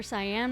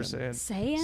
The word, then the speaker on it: Saiyan: Were you like going full like super cyan mode on him or you just like super cyan? How do you say it? Super Saiyan.